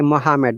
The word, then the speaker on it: Muhammad: a native will say Muhammad, they will not say Muhammad.